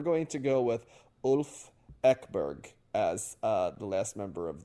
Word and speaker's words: Ekberg: Ekberg, as pronounced in Sweden, is just not accessible to me in terms of the pronunciation, in terms of me being able to do that on short notice.